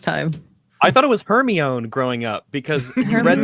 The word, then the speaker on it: Hermione: I want to say Hermione X-Ray Girl, but it's not Hermione. It is. It's Hermione.